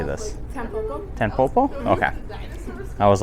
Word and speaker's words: Tanpopo: Tanpopo.